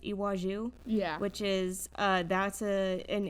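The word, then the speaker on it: Iwájú: But and then we also have I believe it's pronounced Iwaju.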